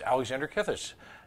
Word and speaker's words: Alexander Kithis: a frequent contributor, is Alexander Kithis. Did I pronounce it right? Yes, yeah, you got it right.